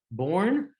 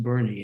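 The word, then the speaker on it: Boerne: the city of bernie case i used to pronounce that city's name born but i was once giving a talk to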